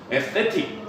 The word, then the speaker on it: aesthetic: aesthetic, aesthetic인데 여기 S가 발음이 안 돼요. aesthetic 이러거든.